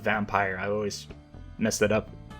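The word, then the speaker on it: Vampyr: And people talk endlessly about how good Vampier is. Um, so or I guess it's pronounced vampire.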